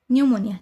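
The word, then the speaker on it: pneumonia: इसमें भी एन के पहले पी आया है। तो इसका पी साइलेंट हो गया। ओके। निमोनिया।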